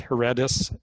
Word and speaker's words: Heredis: It's Heredis, H-E-R-E-D-I-S in English.